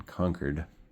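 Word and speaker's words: Concord: Well, not in Boston, in conquered, as they pronounced around there.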